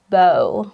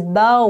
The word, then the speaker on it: bow: the same word but this time it is pronounced as Bo it is a weapon for shooting errors it looks like this once again it is pronounced as a bow when you're talking about this weapon bow and